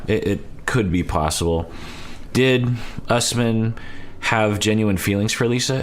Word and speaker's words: Usman: they have angela and usman uh sean is pronouncing it usman and i feel like we've heard usman before i guess i'll go with usman because i trust sean and uh we